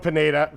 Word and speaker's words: Pineda: I have said everyone's name wrong. It's Mauricio Pineda.